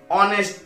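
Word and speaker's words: honest: আবার যেমন ধরো অনেস্ট বয়, এখানে কি বসবে, অনেস্ট, এইচ এর উচ্চারণ অ এর মতো হচ্ছে তাই বসবে অ্যান অনেস্ট বয়।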